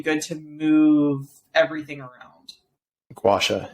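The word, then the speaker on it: gua sha: just really really good to move everything around gwasha it's a gowasha how do you spell that g-u-a-s-h-a okay i know i'm going to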